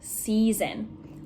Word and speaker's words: season: it and said okay i see ea but it really kind of just makes the long e sound c seasons right you can really just hear and just in the regular word c s e a like the ocean same thing you just hear c or the e sound we don't really hear the a now the next one